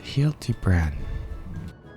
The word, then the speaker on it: Hildibrand: It's pronounced Hilty Bran.